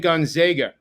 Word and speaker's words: Gonzaga: but I must say it when Eric said Gonzaga I learned last year that that is the correct pronunciation I learned that early I learned that early yeah Gonzaga it's always Gonzaga actually though I think it's